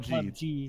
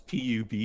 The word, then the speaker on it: PUBG: Really, like, it's not PUBG. It's PUBG. It's PUBG. Come on, man. Everyone takes an acronym and pronounces it.